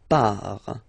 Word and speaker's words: pars: So the first form is je pars. So final S not pronounced, je pars. Tu pars, same form, you can see here and here. So final S not pronounced, tu pars.